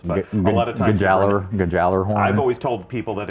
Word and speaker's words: Gjallarhorn: tell you that a rocket launcher called the Gjallarhorn is coming back.